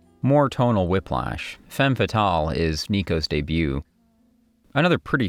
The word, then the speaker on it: Femme Fatale: She was also apparently irritated at how the band pronounced Femme Fatale, saying it should be Femme Fatale.